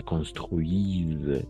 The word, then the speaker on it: construisent: La construisent. NT no vamos a pronunciar nunca al final.